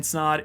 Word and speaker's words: Snod: it for me guys my name is snod it rhymes with odd and I'll see you